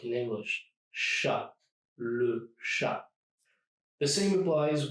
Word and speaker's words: chat: So the T is silent, like we said, chat, and not chat, which is the feminine version and is spelled a little bit differently.